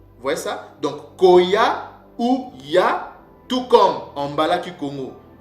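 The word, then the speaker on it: היה: Et ces mots, ces verbes-là ne se prononcent pas aya ou ne se prononcent pas aya, mais ça se prononce tout simplement ya. C'est ça la bonne prononciation en paléo-mbala.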